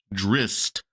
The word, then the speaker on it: Drizzt: drizz driz Darden and they claim that it's pronounced drist so there is another